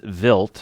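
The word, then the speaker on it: Wild: about three comets Comet vilt it's spelled wi i l d but pronounced with a V contains minerals that form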